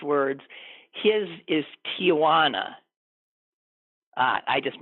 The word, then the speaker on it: Tijuana: His is Tijuana. I just mispronounced it according to him. It's Tijuana, not Tijuana. No A.